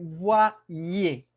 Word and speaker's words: voyez: Olvídese de esa Y y escuche dos I. IE.